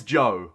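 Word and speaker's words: Zhou: pronounce the word and the easiest way for me to remember to remember how to pronounce z-h-o-u or z-h-o-u i should say i was thinking about that yesterday as well uh it's joe i'm like okay it sounds a bit like joe that's how i remember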